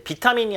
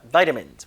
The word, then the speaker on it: vitamins: be rich in vitamins 발음할 때 비타민이 아니라 vitamins. 물론 영국 발음은 vitamin입니다.